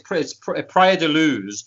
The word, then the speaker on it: Praia da Luz: was taken to the house in, is it Praia da Luz? Yeah, that's it. It's Praia da Luz.